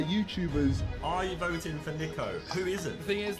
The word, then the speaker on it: Niko: wrong i can't believe it's nico not nico i don't know how